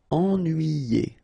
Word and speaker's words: ennuyé: Okay, so first en, then nuit, then yé. Ennuyé.